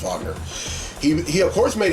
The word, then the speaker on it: Wagner: Now, Nightcrawler, whose real name is Kurt Vogner, it's German, is spelled Wagner, but it's pronounced Vogner.